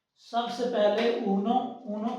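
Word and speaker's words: uno: अच्छा जी, सबसे पहले ऊनो, ऊनो के स्पेलिंग इसको किस तरह हमने प्रोनाउंस करना है,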